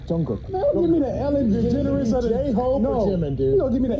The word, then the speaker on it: Jungkook: Jungkook. Jungkook.